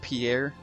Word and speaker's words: Pierre: I always call him Perry. He's around here I somewhere. always called him Perry. I think it's pronounced Pierre, but I could be completely Isn't wrong.